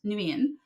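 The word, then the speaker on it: Nguyen: The G is silent. Nuian and um I always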